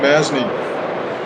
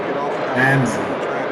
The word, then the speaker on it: Masney: Masney. Masney. Okay. Yeah. Pretend the S is a Z. Masney. Or a Z in your language. Manzi. No, Masney. Yeah.